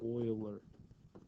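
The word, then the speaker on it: Euler: Yes, that's German EU combination. So, it's pronounced as Oiler. So, Oiler.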